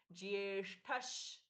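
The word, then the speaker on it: ज्येष्ठ: प्राणद प्राणो प्राणो दीर्घ जियेष्ठ ठ महाप्राण जिए ज के साथ में य का स्पष्ट उच्चारण है जियेष्ठस श्रेष्ठ प्रजापतिह जिएष्ठस विसर्ग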